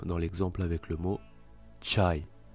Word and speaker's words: çay: Le C cédille se prononce ch, comme dans l'exemple avec le mot çay, çay, le thé turc.